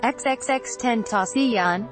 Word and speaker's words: XXXTentacion: the 20 year old rapper who pronounced his stage name xxx 10th asean had visited a bank